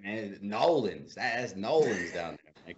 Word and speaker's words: New Orleans: Nolens.